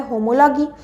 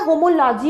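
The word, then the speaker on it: homology: বলা হয় এনালগি আচ্ছা এটা অনেক সময় হোমোলজি অনেক বইতে থাকতে পারে এটা অ্যানাজিও থাকতে পারে কোন প্রবলেম এটার বানানটা যেহেতু এইচ ও এম ও এল ও জি ওয়াই সেজন্য এটাকে হোমোলজিও বলতে পারে হোমোলজিগিও বলতে পারে আবার এটা একইভাবে এনালজিও বলতে পারে এনালগিও বলতে পারে ঠিক আছে সরি এটা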